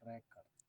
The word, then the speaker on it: record: Ini namanya record. Nah, padahal tulisannya sama nih. Nah, kalau yang rekam itu bacanya record. I record.